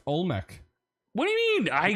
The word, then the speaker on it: Olmec: you didn't know no it's pronounced look at look uh Mr M it's pronounced Olmec what do you mean